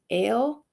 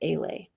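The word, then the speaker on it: Alé: in my face um ale rhymes with sale this is how people who don't know her actually usually say her nickname it's actually pronounced Alay oops I was saying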